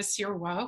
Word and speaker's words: Sirois: I'm really excited to speak with Sirois, who I love to talk. Did I pronounce that right? I pronounced it in French.